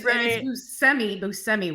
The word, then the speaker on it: Buscemi: And it's Buscemi.